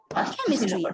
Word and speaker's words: chemistry: just three syllables like chemistry obviously the stress will be on the first syllable because that is the